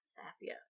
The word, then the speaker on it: Safiya: Safiya. Emphasis on the first syllable.